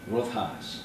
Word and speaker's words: Rothhaas: Now, I pronounce it correct. It's Rothhaas.